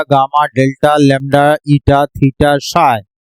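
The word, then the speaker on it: psi: ये Greek letter है, इसको जब भी यूज करते हैं alpha, beta, gamma, delta, lambda, ईटा, थीटा, साई, PSHI साइलेंट होता है।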